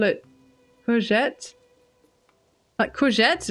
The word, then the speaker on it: courgette: zucchini from then and we pronounce it like the French courgette courgette I I wondered earlier